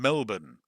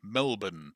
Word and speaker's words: Melbourne: Beach near Portzy in Melbourne, which is the Australian pronunciation. Melbourne. I know it doesn't sound right to most foreigners, but uh that's how it's said. Melbourne.